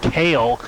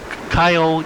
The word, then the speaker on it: Kyle: No, not Kale. It's Kyle, like Ciao. Chow?